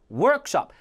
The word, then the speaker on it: workshop: introduce introduce 강세 요거는 합성하게 앞에 workshop workshop이 아니라 workshop 정확한 강세와 발음을 계속 훈련할